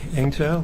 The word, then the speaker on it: Eng-tow: My name is Eng-tow. Last name is spelled.